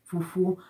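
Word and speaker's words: fufuo: It's pronounced fufu, while it's written as fufu, f-u-f-u-o, fufu.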